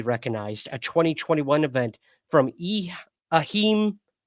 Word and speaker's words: Ehime: The Guinness Book of World Records previously recognized a 2021 event from Ahime. How do you say that? EHIME. Ahime Pro Wrestling, EPW, as the record holder for